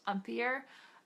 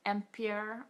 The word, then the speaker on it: empire: written like the word empire but it's it's pronounced umor um empier or whatever you want to call it waistline